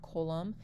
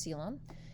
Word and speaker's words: coelom: That's actually how you say the word, not colum. It's actually pronounced coelom.